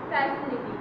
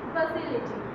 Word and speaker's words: facility: First time I came to know that word facility is not facility, this is facility.